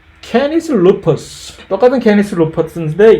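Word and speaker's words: Canis: 관계에 있다라고 하는 동물이고, 케이나이스 또는 캐니스, 라틴어는 사실 케이나이스라고 발음을 안 되는 건데 캐니스 루퍼스, 이렇게 우리 한국 사람이 발음하기 쉽게 단도직입적으로 이렇게 발음이 돼야 되는 건데, 케이나이스 루퍼스라고 보통 미국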